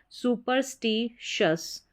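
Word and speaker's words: superstitious: फिर है एस टी। एस टी जब साथ में आता है इसको स्ट करके प्रोनाउंस किया जाता है। यह भी आपको उच्चारण स्पेलिंग रूल्स में बताए हैं। सुपरस्टीशियस।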